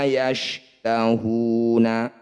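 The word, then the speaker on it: يَشْتَهُونَ: Dhammah diikuti waw sukun. Hu disebut bacaan maqabi. Maqabi bertemu huruf hidup kemudian dihentikan, disebut bacaan mad arif lisukun. Cara bacanya hu ditambah panjangnya jadi 6 harokat. Huruf terakhir kita sukun.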